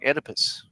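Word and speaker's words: Oedipus: Julian says, "O E in Greek is pronounced without the O." So like Edipus.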